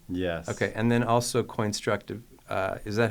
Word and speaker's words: Coinstructive: And then also Coinstructive. Is that how it's pronounced? Yeah. Coinstructive.